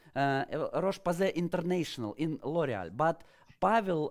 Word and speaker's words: Roche-Posay: We are staying in France, and Pavel today is a beauty tech manager la Roche-Posay, French pronunciation, Roche-Posay International in L'Oreal.